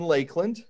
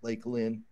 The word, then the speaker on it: Lakeland: nobody in Lakeland pronounces it's not Lake land that's how it you know reads out but everybody calls it Lakeland like it's a I don't know Lake Lynn but yeah I'm halfway